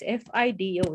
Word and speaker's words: FIDO: uh Fido a lens I don't know if it's pronounced a spider or Fido it's Fido it's an acronym right um so let